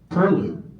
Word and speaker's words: perloo: Well, they really pronounce it as there's an R in there. Pard. Perloo.